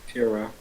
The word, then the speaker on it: Pyra: How do you say her name again? Pura. There we go. Pura.